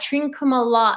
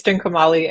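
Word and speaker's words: Trincomalee: And then you've got Trinkuma. And I'm gonna let you've got to pronounce that. Hana. What? Say that. You're so much better with language than I am. It's Trinkumali and Eastern Coast.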